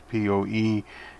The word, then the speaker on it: Poettering: His name is Leonard Poettering, I think is how he pronounces Poettering.